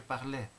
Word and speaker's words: parlais: 항상 1, 2, 3인칭 단수하고 3인칭 복수는 발음이 같아요. je parlais, 반과거, tu parlais, il parlait. nous parlions, vous parliez, il parlait, elle parlait. 발음이 같습니다.